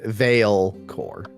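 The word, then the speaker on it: Vaelcor: have somebody on our team named valin right Veil core yeah Veil core okay Veil how do you spell that yeah yeah sure yeah sure Vore VA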